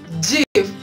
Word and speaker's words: GIF: Do we pronounce the short form of graphics interchange format? We say GIF.